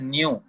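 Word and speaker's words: ν: न्यू, NU, न्यू ऐसे करके बोलना है आपको। म्यू मत बोल देना, म्यू नहीं है, न्यू है, न्यू, ये सिंबल है न्यू।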